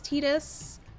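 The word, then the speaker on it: Tidus: um should we just keep his name as as tetus I don't believe in the Titus pronunciation I'm sorry I think it's uh blasphemous you hate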